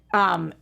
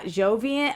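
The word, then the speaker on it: Joivan: I think his name is actually pronounced Javian, not Jovian. I haven't figured this out yet. Wade, I've heard every single broadcaster say it differently. I thought it was Jovian Wade, but maybe I'm wrong.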